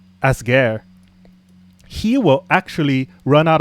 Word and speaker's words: Asger: And among those who have slightly higher power, like this G10 called Asagir, I completely butchered that name. It's more like Asger.